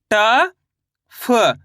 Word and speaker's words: टफ: कैसे करेंगे चलिए देखिए, ट फ कैसे पढ़ेंगे फा को अपन, फ इस तरीके से तो मिलकर बन जाएगा टफ। टा को तो पूरा पढ़ेंगे, फा को आधा पढ़ेंगे।